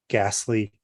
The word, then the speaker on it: ghastly: And kind of the same here with the H, it's a silent H in ghost, ghastly, ghee, or ghoul, right?